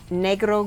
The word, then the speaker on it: negro: Okay, so this is negro gold, and that's how it's pronounced because it's Spanish, and it just means black gold.